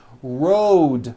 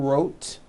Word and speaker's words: road: Road also has a voiced D ending. Road. It's not wrote, unvoiced, it's road. The whole word is voiced.